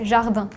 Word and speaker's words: jardin: In France, we say jardin. In Spanish, we say jardín. There is a The pronunciation is so different, so we don't hear the similarity.